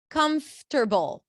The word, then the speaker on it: comfortable: Can I I can also uh teach you a quick trick like comfortable. You can just turn it into three.